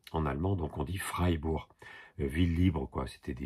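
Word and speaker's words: Freiburg: se prononce i donc c'est Ie qui se prononce i en allemand donc on dit freibur ville libre quoi c'était des villes bourgeoises qui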